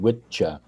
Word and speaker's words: wicca: Oh, okay, yeah, because Wicca is what's actually pronounced Witcha is the singular male form.